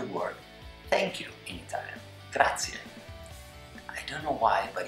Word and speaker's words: grazie: Let's take it as an example, the word grazie, spelled G-R-A-Z-I-E. Grazie, thank you. It's not grazie, it's not grazia, it is grazie.